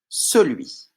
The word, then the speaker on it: celui: Pouvez-vous me montrer le mot celui? Celui. On entend bien le son I à la fin, celui qui est ici.